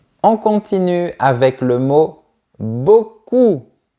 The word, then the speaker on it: beaucoup: On continue avec le mot beaucoup. Garde bien la langue en arrière. Beaucoup. Sinon, tu risques de prononcer beaucoup. Et ça ça veut dire que quelqu'un a de belles fesses.